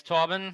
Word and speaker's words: Torben: uh torbin yeah um my name is torben uh last name for those of you who don't know how to pronounce german names uh the s is sure um i only started